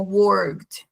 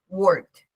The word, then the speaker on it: worked: Es como worked. ¿Sí? Es como que las unes las dos. No omites ni una ni la otra, sino que las unes. La única que no pronuncias es la D. Es la E, sorry, la E. Pero la K y la D, sí, worked.